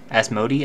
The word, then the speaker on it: Asmodi: The accent should be on the E, Asmodi.